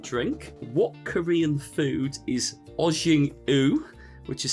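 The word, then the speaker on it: ojingeo: What Korean food is ojing-u, which is spelt OJING-EO? So what Korean food is ojing-o?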